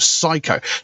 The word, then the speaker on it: Cyco: a band called sumo psycho now i'm assuming and the name of the band is psycho it's spelled um c-y-c-o i'm guessing it's done supposed to mean psycho kind of like the